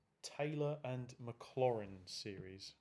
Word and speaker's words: Maclaurin: on YouTube or whatever you hear them say McLaren like race climber Clare and it's not McLaren its Maclaurin McClure in like not like chlorine floor in my bin dustbin Rinne Maclaurin doesn't matter if you